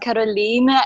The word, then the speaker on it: Caroline: It's pronounced Caroline.